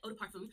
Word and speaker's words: eau de parfum: Eau de parfum.